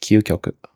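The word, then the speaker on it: 究極: Q in English, whereas ki plus a little yo gives us kyo, like the kyo in Kyoto or Tokyo. That's why this word is pronounced kyukyoku.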